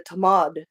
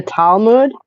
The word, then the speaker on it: Talmud: Well, I mean, this was all kind of laid out in the tamad. Is that how you pronounce it? The talmood.